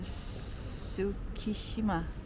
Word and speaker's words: Tsukishima: The city of Tsukishima. Is that how you pronounce it?